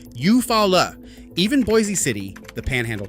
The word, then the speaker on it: Eufaula: Eufaula comes out Eufaula.